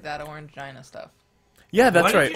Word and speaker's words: Orangina: Pronounced Orangina. Is it? Is it? I will take Furball's word for it because it sounds less like another word. Gina? Orangina. Gina. Gina. Orangina.